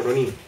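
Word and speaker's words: rōnin: La forma correcta de pronunciarlo en japonés es algo así como Ronin.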